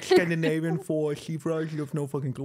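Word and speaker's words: Siofra: Shifra. Shifra. Yeah. I always said Seofra. Yeah, I thought that for the longest time as well, until someone corrected me.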